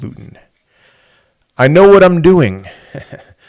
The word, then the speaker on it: Luton: That a big reason why that video got 1.4 million views is because I said Lutton and not Luton.